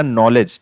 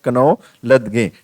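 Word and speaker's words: knowledge: कनौ लदगे। ठीक है, मतलब पूरा फुल प्रोनाउंसिएशन उसने कर दिया कनौ लदगे। ठीक है, तो कनौ लदगे नहीं होता भैया, नॉलेज होता है।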